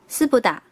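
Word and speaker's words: 酢豚: 糖醋里脊的日文是念作丝不打，丝不打。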